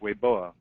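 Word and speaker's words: Weibo: Twitter combination and it's spelled Wei b o but pronounced way boa and it we were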